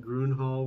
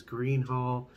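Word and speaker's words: Gruene Hall: call it Groon Hall, which it is Green Hall. And I constantly get made fun of by Nicole for saying it in a different way. But it is Green Hall, as the locals say, because I did ask.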